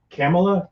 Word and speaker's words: Kamala: later kamala harris or i think she pronounces it camella but either way kamala harris